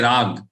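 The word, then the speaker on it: राग: Don't say kam rag. Kam rag. Don't say rag.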